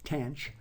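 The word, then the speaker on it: tanh: minus X the derivative of the hyperbolic tangent pronounced tan CH is again a straightforward exercise and differentiation using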